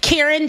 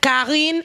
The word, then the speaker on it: Karine: If you guys want to know the pronunciation, I know a lot of people are Karen Jean-Pierre, Karine Jean-Pierre.